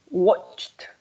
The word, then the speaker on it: watched: Watched. Sí, no vamos a decir la E. La ED suena como una T.